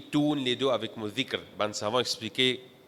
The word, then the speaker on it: ذِكْر: Et Mauricien l'y prononce par zikar, de faire azkar, qui n'est pas supposé prononcer comme ça. Dhikr, nous l'y lit dans bout de la langue.